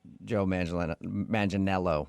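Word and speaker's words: Joe Manganiello: Uh, because we talked to him and he told us that a lot of people say he looks like Joe Mangel Manelo, right?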